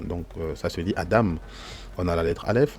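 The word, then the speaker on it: אדם: Alors, c'est vrai qu'en français, souvent, beaucoup dans la francophonie ont souvent pris l'habitude de dire Adam, ok, pour désigner le premier être humain, mais dans l'hébreu, c'est Adam, Adam, pas Adam, mais Adam, ok.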